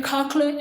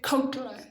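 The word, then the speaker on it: cochlear: 2021 I got a cocka implant some people say cocka other people say ca I say ca because it's easier for me to pronounce so here's a little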